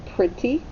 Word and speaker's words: pretty: print t and then on the end you hear the y but what sound does y make that's right it makes a long sound of e per it t all